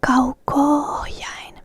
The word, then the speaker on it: kauko-ohjain: Kauko ends with the same letter, the same vowel as ohjain starts, so there needs to be a line in between. Otherwise it would be pronounced as kauko-ohjain, kauko-ohjain. But we say kauko-ohjain, kauko-ohjain, kauko-ohjain. Not kauko-ohjain, kauko-ohjain, right? So that's why there needs to be the line.